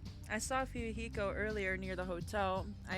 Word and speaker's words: Fuyuhiko: Anyway, what happened to Fuyuhiko?